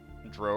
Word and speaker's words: drow: and that's why uh skip Williams when he was asked about it uh said that Dro rhymes with row because that can be